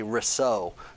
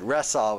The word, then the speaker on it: Ressaw: And Sheriff Ressaw, you would probably, if you read it, you would say Ressaud, because it looked French, but Ressaw was how I pronounced it there.